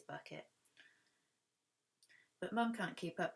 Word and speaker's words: Bucket: have a hyacinth bucket which hyacinth bucket would like to be pronounced bouquet do dhari but it is bucket but mum can't keep